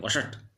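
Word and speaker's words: वषट्: और उसको जो पितरों को दी जाती है उसमें वषट कहते हैं, वषट ऐसा उच्चारण करते हैं।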